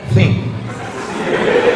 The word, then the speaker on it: think: T sama H itu bacanya think.